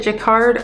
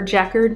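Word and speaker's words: jacquard: is a woven jaquard do you pronounce it jaquard or jackard because apparently both are correct woven into the jacard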